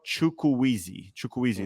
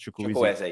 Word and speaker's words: Chukwueze: But anyhow, do you think there's any risk, putting injuries aside, Samuel Chukwueze, that's how you pronounce it, correct? Chukwueze, yep.